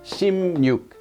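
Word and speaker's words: 십육: 36 or just 16 the pronunciation of this actually changes to shim you when they say it really quick ship you becomes shim nuke so that's pretty much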